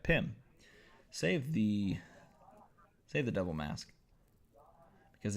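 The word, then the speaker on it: Pym: And I'm going to save the double mask side on the Pim particles. There you go, I pronounced it right. Pim.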